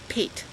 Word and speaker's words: pate: If it's top of your head, it's pate.